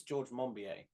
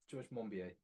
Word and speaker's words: Monbiot: According to, how did you say his surname is pronounced? I think it's George Monbiot. George Monbiot.